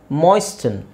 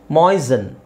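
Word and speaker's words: moisten: ಯೂಸ್ ಮಾಡ್ತಾರೆ ಸಾಫ್ಟನ್ ಸಾಫ್ಟಫನ್ ಅಂತಾನೂ ಯೂಸ್ ಮಾಡ್ತಾರೆ okay ಮಾಯಿಸ್ಟನ್ ಮೊಯ್ಸನ್ ಮೊಯ್ಸನ್ ಮೊಯ್ಸನ್ ಸೋ T silent so ಮೊಯಿಶ್ಚರೈಸರ್ ಅದೇ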